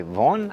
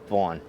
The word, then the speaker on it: Vauen: as you can tell we're doing this by vaughan i believe it's the way you would pronounce it i'm pronouncing it the way i would pronounce the hockey pads that